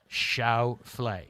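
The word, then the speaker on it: Schauffele: frame by frame listen guys my name is Xander shet Shia F quite clear Shia fle so the only thing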